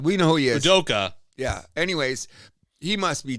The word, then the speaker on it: Udoka: Not Ibuka. But we know who he is. Udoka.